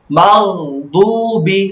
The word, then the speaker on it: المغضوب: একই সিস্টেম বলতেছো তুমি, মাগ সাকিনের উচ্চারণ ধরে রাখবে, ছাড়বে না, মাগদুবি বলো, মাগদুবি غير المغضوب গায়রিল